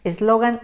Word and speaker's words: eslogan: dejamos sin ninguna tilde el caso de eslogan tres sílabas terminen n grupo del 7 su corazón está en la sílaba lo y como se corresponde a lo que esperamos eslogan la palabra ya está